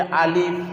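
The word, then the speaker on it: ألف: আলিফ আলিফ আলিফ আলিফ যখন বলবো আমাদের উচ্চারণটা আলিফের কেমন হবে? দুটা ঠোঁট বুঝবে না, বাতাসের সহিত বেরোবে আলিফ শব্দ, আলিফ আলিফ। এবং সিটিও হবে না আলিফ, এরকম সিটিও হবে না, আলিফ আলিফ। আলিফ দ্রুত উচ্চারণ করব, আলিফ আলিফ, এইরকমটা উচ্চারণ করব না আলিফ, তাহলে ভুল হয়ে যাবে।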